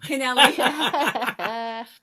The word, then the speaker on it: Kennelly: Kennelly.